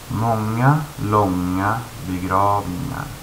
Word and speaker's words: många långa begravningar: Por ejemplo, el sonido NG en sueco cuesta para muchos hispanohablantes. Un ejemplo hay. Y voy a dar un ejemplo de pronunciación sueca y un ejemplo de cómo a veces suena un hispanohablante diciéndolo. Många långa begravningar. Y hay muchos hispanohablantes que a veces se pronuncian como många långa begravningar. Y no es correcto.